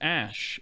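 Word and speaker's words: Æ: letter X and then AE is like pronounced Ash and then a12 is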